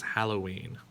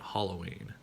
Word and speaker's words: Halloween: offshoot of hallows eve it is halloween not halloween now this one right here